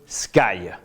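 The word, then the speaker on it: SCAI: ligne ou en live le fameux sky. Il y a le jeu de mots, sky, vous savez qu'en anglais, le sky c'est le ciel, mais ici ça ne s'écrit pas comme le ciel en anglais, c'est S-C-A-I.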